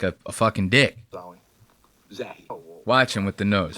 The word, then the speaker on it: Zahi: Zahi, not Zawi.